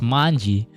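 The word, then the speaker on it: 卍: So yeah, I learned how that this actually is pronounced as manji because of this yaoi way before Tokyo Revengers was a thing.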